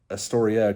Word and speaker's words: Astoria: Astoria kind of rhymes with history, anyway, and that's makes me think of that because of Lewis and Clark.